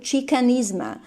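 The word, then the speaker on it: Xicanisma: the spelling to pay homage chicanism it well pronounced chicanisma to a pay homage to their indigenous roots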